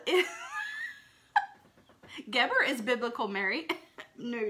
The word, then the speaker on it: Geber: Geber is biblical Mary. No, not the other. The way that it's spelled is G-E-B-E-R, but the phonetical pronunciation is G-E-H-B-E-R, Geber, okay?